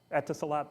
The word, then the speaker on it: Etisalat: I don't know how to pronounce it. Etisalat, thank you.